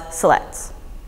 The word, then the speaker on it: Siletz: Confederated Tribes of select Indians there's five commonly mispronounced words MP no Fuu colloquia Willamette Grande Ronde as well as Siletz